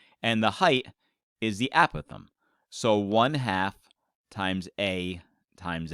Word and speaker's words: apothem: name for that altitude it's actually called the a Pithom but sometimes people mispronounce it as the apothem which sounds like a little furry creature that crawls across your front lawn but no this is